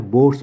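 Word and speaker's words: Bohr: यह हमको बोहर या बोर्स मॉडल बोलते हैं इसको कोई कोई प्रोनाउंस करता है बोर मॉडल कोई बोलता है बोहर मॉडल ठीक है तो दोनों ही सही है नेक्स्ट क्वेश्चन आपके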